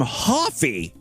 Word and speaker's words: Hoffy: Anyway, Meade's brother pronounces his last name Hoffy. Hi, it's Randy Hoffy with the Jody and Randy team. Randy Hoffy. Hi, it's Randy Hoffy with the Jody and Randy team. Rhymes with coffee.